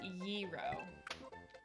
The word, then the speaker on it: gyro: So it's pronounced gyro.